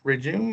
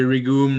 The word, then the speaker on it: REGOM: REGOM or REGOM? It depends. It can be REGOM, REGOM.